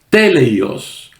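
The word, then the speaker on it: τέλειος: conoce con la palabra teleios o teleios acentuando la primera sílaba teleios que significa completo o perfecto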